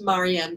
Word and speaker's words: Marien: the other one is Mary Anne you know my name it's which is spelled like Marie and there right so so how